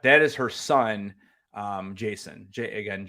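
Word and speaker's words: Jacen: character in Star Wars named Jason it is but it's spelled j-a-c-e-n um so in Rebels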